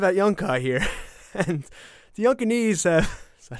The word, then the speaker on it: Yunkanese: I'm here live at Yunkai here, and the Yunkanese have... Is that how you say it? Yeah, the Yunkanese.